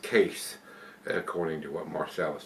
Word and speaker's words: Kees: But if you've had this one from brewery, it says Keys here, but it's pronounced Case, according to what Marcel was telling me.